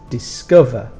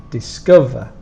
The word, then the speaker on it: discover: is quite easy but remember to give a stronger sound on the second sound so we have discover but it's discover discover so the strong sound